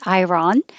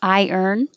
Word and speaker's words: iron: This is such a weird looking word because it looks like iron, but it sounds nothing like it. It sounds, if you think of iron, that's better. They push it together. Iron, iron, iron. So your tongue goes up high for the I and then down for the and that's what makes the little Y in between.